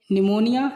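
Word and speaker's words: pneumonia: एन तथा एस के पहले आया हुआ पी प्राय साइलेंट होता है। एन तथा एस से पहले आया हुआ पी। तो निमोनिया, साइको, 100।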